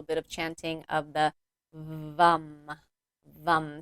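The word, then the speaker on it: Vam: So let's go ahead and do a little bit of chanting of the vum. Vum. So it's spelled va m but pronounced vum like v u m.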